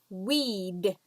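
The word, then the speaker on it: we'd: goodness terrible habit okay weed weed smoke a pack of cigarettes a day weed weed same pronunciation as a plant that grows in your garden where you don't like it a weed weed and finally they when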